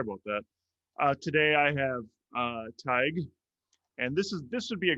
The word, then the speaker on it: Tadhg: So to pronounce my name, forget about the spelling. It's like tiger without the so it's Tadhg.